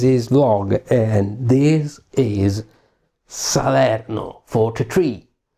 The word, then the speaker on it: Salerno: Hello everyone, I'm and this is Vlog, and this is Salerno 43. Or let me say it because that's Italy, folks, Salerno 43.